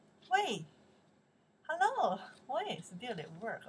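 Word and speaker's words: 喂: Wei. Wei. Hello? Wei. The sound's up, right? Wei. The answer, hello. Chinese. Wei. This means that's carried out to pronounce. Wei. Wei. Hello? Hello. The second tone.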